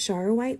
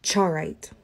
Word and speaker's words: Charoite: let's talk about chara white i've always pronounced it shower white but some people pronounce it chawrite charaway is a rare